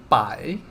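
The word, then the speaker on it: 白: do you say white bye bye bye bye so it is the second tone by right if it's the first tone it's by if it's the third time it's by if it's the fourth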